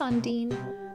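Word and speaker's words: Undyne: and garbage dump hey how do you pronounce Undine as dean as well no just on Dean likes enemy goes to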